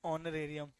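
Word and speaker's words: honorarium: एच S silent ऑनरेरियम।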